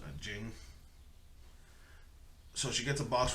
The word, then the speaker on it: Ging: It was weird because it sounds like Gene, like Gene, but it's spelled Ging, so it's Jing.